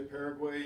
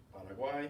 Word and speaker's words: Paraguay: I know in English we say Paraguay and Uruguay, but it's not in Spanish. Paraguay and Uruguay.